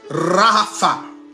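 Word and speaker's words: רפא: de ce mot là l'étymologie ça se prononce Rafa qui signifie se détendre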